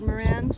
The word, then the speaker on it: Marans: is called a cuckoo Marans I've heard Moran's pronounce differently but this is the way that we've learned it no not to come